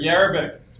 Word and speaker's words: Jerabek: Defenseman Jakub Jerabek was called up last Wednesday versus Nashville.